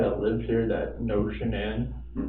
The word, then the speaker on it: Shannan: And I don't want to mispronounce her name wrong. Shannan? Shannan.